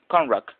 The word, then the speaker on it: Conrack: His last name is pronounced Conrack.